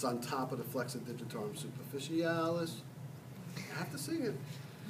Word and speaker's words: flexor digitorum superficialis: call this one, the flexor digitorum superficialis. You have to say it like that. Did you ever watch Mary Poppins? You know? No. Supercalifragilisticexpialidocious, even though the sound of it may sound atrocious.